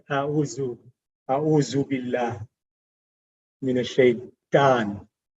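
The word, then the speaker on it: أعوذ: So in Urdu, you might say auzu. But in Arabic, the tongue has to come between the teeth for this letter.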